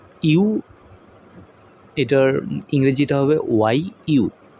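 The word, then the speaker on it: ゆ: ইও ইও না ইউ। এটার ইংরেজিটা হবে ওয়াই ইউ। এটা ইউ। উচ্চারণটা হবে ইউ।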